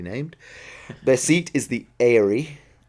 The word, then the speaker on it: Eyrie: Their seat is the Eyrie. I say Erie, but you have a slightly different accent.